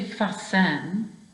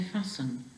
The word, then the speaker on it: fasten: You don't say fasten, you say fasten. So that last syllable is not a stressed syllable, it's an unstressed syllable.